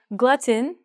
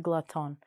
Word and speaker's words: glutton: So glutton actually sounds like this, not glutton.